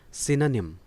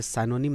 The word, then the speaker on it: synonym: SYNONYM इसका pronunciation है सिनोनिम। सिनोनिम, आप इसे साइनोनिम ना पढ़ें, एंटोसाइनो ना बोलें, सिनोनिम।